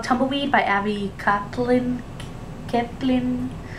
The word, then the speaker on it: Kaplan: Kaplan? That's how I pronounce it. I think that's the only way to pronounce it.